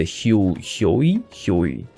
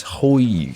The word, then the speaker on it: Hoi: let's go Pierce Bow with the Hyoi. Oh, it's Hoi, sorry. It's not Hyoi, silly me, it's Hoi.